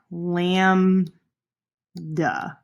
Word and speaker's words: lambda: go back and so this is pronounced lamb duh the Greek letter and it